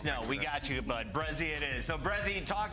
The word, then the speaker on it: Brezzy: Just Brezzy. Like SZ. I know it's hard like to pronounce because like it's half of my name. It's just like say Brezzy and not Breggy, but like I mean you can say whatever.